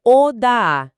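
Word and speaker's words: הודה: As fontes dizem que vem da raiz hebraica Oda-A. Como é que a gente pronuncia isso direitinho? E o que significa de fato? A pronúncia é Odaá. Tem uma leve pausa e a ênfase é no A final.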